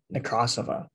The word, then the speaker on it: Nekrasova: I think the Russian pronunciation is Nekrasova, but I'm here to speak with her about her new film, The Scary of 61st.